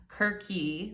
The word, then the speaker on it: Circe: first one is Circe, and I know some people pronounce it Kirky, right? But I'm going to use Circe. I'm going to use the name Circe because that's what I'm used to saying, okay? But some people it's Greek, and some people say